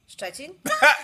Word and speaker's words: Szczecin: How do you say that in Polish? Szczecin. There you go. It's funny. It sounds the same in English.